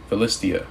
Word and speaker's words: Philistia: Sorrow shall take hold of the inhabitants of Philistinia, or Philistia. Philistia, that's how you say it.